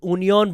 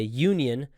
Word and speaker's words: Union: onion Berlin which I realized that's how you say it it's not like how you say down here in the States we say Union but I guess it's said pronounced Union instead